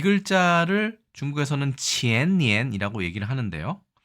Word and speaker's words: 前年: 자, 이 글자를 중국에서는 qiannian이라고 얘기를 하는데요.